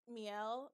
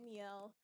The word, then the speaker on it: miel: shop, and they had, I think it's pronounced Miel, because it's French for honey, but her name is Mel, so I call it Cafe Mel.